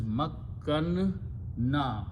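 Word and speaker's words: مكّنّا: So this will be pronounced as makkanna, two noons.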